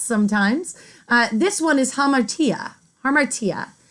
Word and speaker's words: hamartia: dramatic tragedy and they're a little tough to pronounce sometimes this one is hamartia armor tia it's known as your fatal flaw this trait